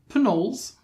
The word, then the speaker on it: Pnoll: beginning is silent for pinols you pronounce the p that is official um so they're a